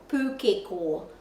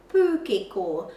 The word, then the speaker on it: pūkeko: So we say pūkeko, but the pronunciation of the letter O in Te Reo Māori is o, pūkeko, pūkeko.